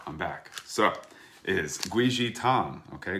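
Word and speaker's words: 桂枝汤: So it is guizhi tang, okay? Guizhi tang is actually how you say it in Chinese, guizhi.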